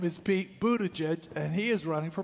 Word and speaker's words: Buttigieg: Pete Buttigieg, because I was worried about how to say the name, okay? His name is Pete Buttigieg, and he is running for president.